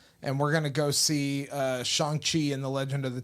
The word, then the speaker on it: Shang-Chi: So Ryan and I are going to Austin this weekend to go hang out with his dad, and we're gonna go see Shang-Chi and the Legend of the Ten Oh, Rings.